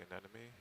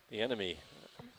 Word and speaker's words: anemone: The enemy? That's the way I say it. The enemy. I have trouble with that first What? syllable. Full wide Anemone. For some reason, I have a hard time saying that.